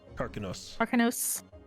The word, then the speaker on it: Karkanos: Okay, I'm gonna find how do you say his name again? Karkanos? Karkanos.